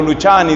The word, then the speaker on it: Luciani: Entonces, la tercera recomendación se llama Albino Luciani. Se escribe Luciani o Luchani, dicen otros.